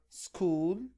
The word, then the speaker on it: school: And before this we had words that has ch, and ch are pronounced as k sound, like the word school, technology. School, technology.